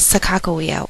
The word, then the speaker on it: Sacagawea: Sacagawea, otherwise pronounced as Sacagawea, was a Shoshone Native American girl who was